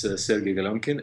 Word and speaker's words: Galyonkin: pronounce it properly uh the proper pronunciation is Ser gonin and it's hard to pronounce in Ukrainian as well so not not in English so yeah we're just start